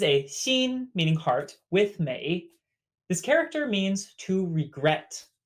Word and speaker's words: 每: on this in appearance next we have Mei Mei just like beautiful exact same May 8th